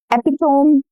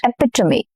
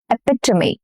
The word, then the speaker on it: epitome: Epitome? Incorrect. Epitome. Epitome. Okay, very common word. How do you pronounce this?